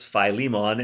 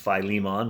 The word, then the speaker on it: Philemon: be a literalist going, no, it's Philemon. And you're right, it should be pronounced Philemon. But as I never say Philadelphia or Prince Philip, I'm going to stick with Philemon because it's just easier on my lips.